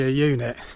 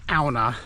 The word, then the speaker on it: Aune: So, as I alluded to, AA, that's how you pronounce it. I think I said in one of my early videos that it's pronounced Aun or A, but it has a Nordic translation.